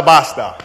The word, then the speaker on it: basta: say in the daytime basta basta rhymes with pasta ya basta basta Oh